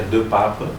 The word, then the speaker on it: De Paepe: el apellido en mi idioma, que es el flamenco, se pronuncia de Pape, medio difícil, y el origen del apellido parece ser hijo de cura.